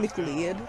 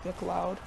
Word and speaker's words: McLeod: gain of 22 yards why did you just saying mclean so i don't know how to pronounce it but now i know it's mcleod no way he completed